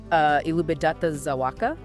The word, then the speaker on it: Elżbieta Zawacka: Elżbieta Zawacka? Is that how it's pronounced?